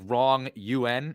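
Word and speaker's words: wrong'un: I guess so so it's pronounced like wrong un and it's a dishonest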